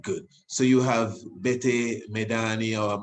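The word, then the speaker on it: Medhane Alem: so you have bete medani or mehani alem samse medani some do not pronounce the d mahani alem which means savior of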